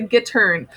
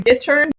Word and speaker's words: gittern: Okay, the next thing that you have is the gittern. Just hearing me say that word gittern, you can already tell that it sounds like the word guitar.